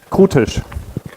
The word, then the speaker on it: Krutisch: So how do I pronounce it? Krutisch. But that's a very German way.